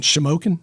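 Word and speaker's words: Shamokin: was it like to go in and I'll mispronounce the name of your town again shimoken that's right what was it like to go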